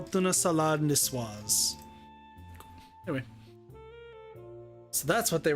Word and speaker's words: niçoise: Proven Sol, tunid salad, niçoise. Niçoise? Yeah. No. So the CS is swa. I thought it was a hard K.